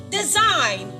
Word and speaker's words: design: Letter G is silent in the word design.